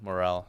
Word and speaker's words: Morrell: bit about his J morale not moral y sorry I did